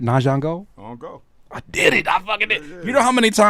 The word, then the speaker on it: Ahngeaux: But first and foremost, did I pronounce the new name right? Nango.